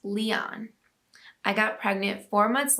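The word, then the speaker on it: Lyon: the pronunciation and we would name him lion pronounced leon i got pregnant four months later with our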